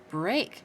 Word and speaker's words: break: the ER sound again break see there's the a with the E A it says a instead of e that's interesting broke break and broke